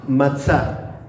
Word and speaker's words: matzah: Se dice matzah. ¿Cómo se dice en hebreo pan sin levadura?